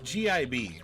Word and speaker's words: gib: Oh gosh, it's GIB basically. Gib, right? Yeah, it's pronounced gib. Some people pronounce it jib though, but I don't see why they'd pronounce it jib, because I wouldn't.